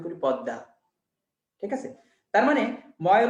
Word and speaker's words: পদ্মা: দ powerful, দ এর প্রভাবে মটাও দেখো দ হয়ে গেছে। আমরা কেউ বলি না পদ্মা, ইংরেজিতে পদ্মা লিখি, বাট বাংলায় আমরা কিন্তু উচ্চারণ করি পদ্মা, ঠিক আছে।